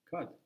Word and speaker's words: kad: Kad or kad. Next one is the rhyme with kad, just like when rhymes with then. Kad rhymes with tad, then, tad.